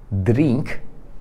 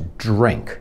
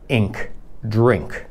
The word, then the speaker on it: drink: jest i to tutaj zamiast polskie słowo drink to to jest drink i też widzisz że to ry to nie jest takie Nie robimy tego to nie jest Nie to jest dźwięk drink i drink po prostu znaczy